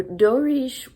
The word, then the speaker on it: Doris: Looks like Doris in English, but they say that's how it's pronounced in Portuguese. So Dorish has been brought up on the plantation.